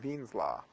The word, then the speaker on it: Wien: Something that sounds like Wien's law, but it's sort of German, so it's pronounced Wien's law.